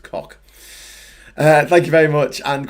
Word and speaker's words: Koch: So the Koch brothers are pronounced cock.